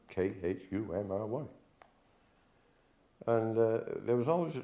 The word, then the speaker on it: Cymry: The correct name is the Cymry, Khumry.